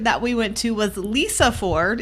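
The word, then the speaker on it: Lysefjord: we went to was Lisa Ford it's spelled like lice for del y se Ford or fjord however you say that um the snack that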